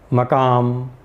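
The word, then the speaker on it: مقام: तो इसी तरह उर्दू में भी एक प्रोनाउंसिएशन जो है वो दिल्ली स्कूल ऑफ उर्दू से आया है, जिसमें फ़ज़ा, मकाम, तरंगा इस तरह कहते हैं, और लखनऊ स्कूल से जो प्रोनाउंसिएशन आया है उसमें फ़िज़ा, मुकाम, तिरंगा यानी अलामत लगाकर प्रोनाउंसिएशन करने की एक रिवायत है।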